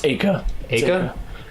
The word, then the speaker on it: Aika: uh what i-e-a-a-i-k-a a-i-a-i oh no it's aika because in japanese ai is a it would be pronounced so you can change